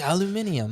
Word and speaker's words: aluminium: you take this aluminum foil and he's like aluminium aluminium yeah I heard you're British there and that pronunciation of aluminum bud don't you call it aluminium aluminium you're